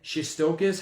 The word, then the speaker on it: Shestokas: a candidate for Attorney General, which is Shestokas. And I'll say it again, Shestokas.